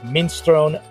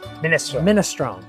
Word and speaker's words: minestrone: Our first stop is Trtoria Merta and the dish is a minstrone Milanazi soup. It's minestrone.